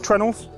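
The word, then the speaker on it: treenail: ship is held together with trendels which is spelled tree nail and that is because it is literally a tree nail it's a round piece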